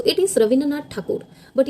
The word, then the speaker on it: ठाकुर: सो इट is Rabindranath ठाकुर बट ये रवींद्रनाथ टैगोर कैसे हुआ तो जो ब्रिटिशर्स थे ना वो मिस प्रोनाउंस करते थे ठाकुर को as Tagore and with time यही पॉपला हुआ